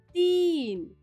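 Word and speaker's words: तीन: is this it is did you hear the long sound ti yes when you hear that long sound it's the badi iki matra big e you can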